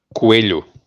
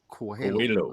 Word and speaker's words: Coelho: No, the H forces you to flatten your tongue when pronouncing the L.